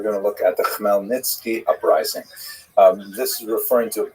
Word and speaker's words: Khmelnytsky: It's actually pronounced Khmelnytsky, with a guttural at the beginning.